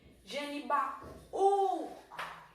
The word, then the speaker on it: Genibaú: A segunda sílaba tônica do hiato, tá? Que é a primeira tônica, a primeira sílaba do hiato, a segunda. A segunda do hiato, que é a tônica, é um U. E ele está sozinho e ele vai receber o seu lindo e maravilhoso acento.